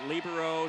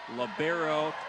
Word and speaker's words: libero: let that one go libero is uh I've argued with some people about that I prefer libero sometimes the term is labero the girls high school